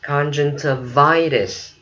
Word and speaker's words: conjunctivitis: Mình có chữ conjunctiva thì giờ mình có conjunctivitis. Tivitis, okay? Mỹ nó đọc chữ tờ đờ ở chỗ này.